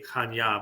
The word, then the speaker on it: Chania: And Chania, spelled in English, is Chania, Chania, but it's pronounced Chania.